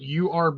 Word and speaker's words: herb: or herb head actually technically if you really want to get technical you could just spell it urb and still get the exact same phonics off of it or erb ed well that would be he rb but with the h silent but you could still spell it u r b and still get the same sound avocados are awesome i